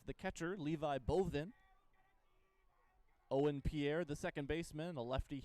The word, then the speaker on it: Pire: Pierre, spelled P-I-R-E, but I did verify. Pronounced Pierre.